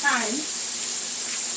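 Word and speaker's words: thyme: tomor that all of that good stuff that's time t h y m e this is that's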